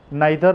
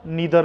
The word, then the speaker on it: neither: इसके दो प्रोनाउंसिएशन है, आइदर और नाइदर नॉर. फर्स्ट इधर और नीदर नॉर, राइट. दोनों में से जो आपको लिप्स पे, आपके टंग में ठीक बैठता है आप यूज़ कर सकते हो.